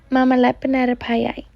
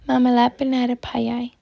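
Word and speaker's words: mamihlapinatapai: This word is pronounced as Mamihlapinatapei.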